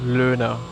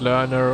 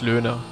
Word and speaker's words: Loehner: Uh, in German, in Germany, I would say Luna. That's how I would say my name. We have one left, but I guess for English speakaking people, learner or something like that is fine. But yeah, German would be Luna.